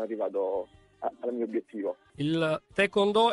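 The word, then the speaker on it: taekwondo: abbiamo annunciato si chiama si pronuncia te cono dal coreano Tae colpire col piede con pugno e do via lui è Mauro sarmiento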